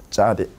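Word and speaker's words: צדי: 이렇게 쓰고 짜디. 짜디. 그래서 쌍지읒 발음.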